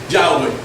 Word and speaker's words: Yahweh: Tú escribes eso en un papel y tú agarras un judío y le dices: ¿cómo se pronuncia eso? Y el judío te va a decir: Yahweh.